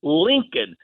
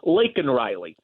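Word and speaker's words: Laken Riley: He calls her Lincoln instead of Lake Riley.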